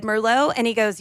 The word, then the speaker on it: Merlot: As I said Merlot, I didn't correct him. I just said Merlot, and he goes, "You don't pronounce the T."